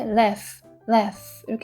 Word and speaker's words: laugh: 자, 여기 GH는 F 발음이에요. 그래서 읽을 때 laugh 이렇게 했습니다.